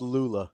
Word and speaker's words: Lulla: Pronounced Lulla.